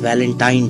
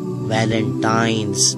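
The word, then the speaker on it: Valentine's: है अब आप इस वैलेंटाइन डे के नाम पर गौर करें इसे जो आम कहा जाता है यह वैलेंटाइन डे है लेकिन हकीकत में जो इसका प्रोनाउंस एशन है वह है वैलेंटाइंस डे य एक वैलेंटाइन वाला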